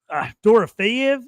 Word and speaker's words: Dorofeyev: Toast will be talking for an hour if we had him on here right now, talking about Marchenko and Mishkov, Dorofeyev.